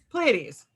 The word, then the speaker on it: Pleiades: Pleiades.